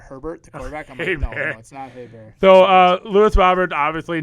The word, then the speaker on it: Herbert: fun one i've heard some people saying uh justin hey bear instead of herbert so uh lewis roberts